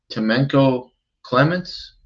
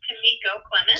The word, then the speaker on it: Tamiko Clemens: Hi, I'm looking for Temenko Clements. Okay, it's Tamiko Clemens. Tamiko, I'm sorry.